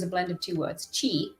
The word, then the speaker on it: Qi: Qi, Q-I. I know it's phonetically C-H-I, but it's Qi.